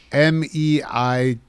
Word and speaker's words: Meijer: I don't think I've been to a Myers. Oh, it's like Meijer. That's like a Yeah, it's spelled weird.